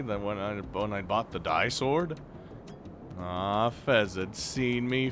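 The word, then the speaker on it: Di-Sword: Disorder. You all say it wrong. It's die sword.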